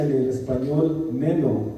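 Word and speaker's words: μένω: pronuncia en el español meno, como menos, pero sin la S, meno.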